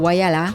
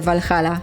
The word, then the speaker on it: Whyalla: Chociaż to miasto nazywa się Whyalla, to my wymawialiśmy jego nazwę Walhalla, więc się nie zdziwcie, jeśli usłyszycie, że mówimy Walhalla na Whyale.